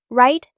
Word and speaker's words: write: Right. The W is silent.